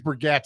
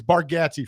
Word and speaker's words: Gatze: Barganzi. How do you say that's his name? Barganzi? Borganzi. He's Bargatze. He's Bargatze from now on.